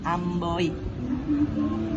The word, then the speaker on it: amboi: Contoh ketiga, kata amboy. Amboy menggunakan diftong oi. Bunyi berpindah dari O ke I. Diucapkannya amboi.